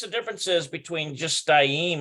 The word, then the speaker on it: shtayim: Note the changes of pronunciation of the following numbers when they are linked with esrei. Okay, so we did this here, shtayim. Looks like, yeah, shtayim, and looks like, it still looks like shtaim.